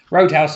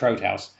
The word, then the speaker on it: Roodhouse: Roadhouse, I think it's pronounced Roadhouse. It's spelled Roodhouse. R-O-O-D, but I think it's pronounced Roadhouse. Hit back at claims, said